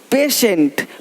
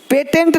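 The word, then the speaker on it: patient: देखो, पेशेंट, पेटेंट नहीं, पेशेंट, पेटेंट, पेशेंट, पेटेंट, पेशेंट। तो श, पेशेंट।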